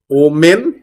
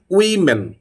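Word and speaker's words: women: কি অনেক মহিলা একসাথে plural form of ওম্যান ওম্যান ওম্যান no this is উইমেন উইমেন this is উইমেন তারপরে এটা ডেট না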